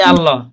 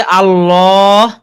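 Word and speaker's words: الله: ওইটা মূলত জি, জি, আল্লাহ চিকন করে পড়া হয়, মানে বারিক হয়, বারিক হয়।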